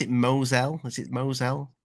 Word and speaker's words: Mosul: we will mention the is it is they pronounce it Moselle is it Moselle mosul yeah mosul yeah the orb that piece of